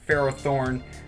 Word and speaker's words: Ferrothorn: I know people pronounce it Ferrothorn. I call it Ferret Horn. I know there's Thorn in there, but that's just me.